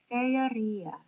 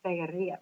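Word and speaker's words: Faërie: Um, and the way he spells it, you would pronounce something like Feria, the realm or state in which fairies have their being.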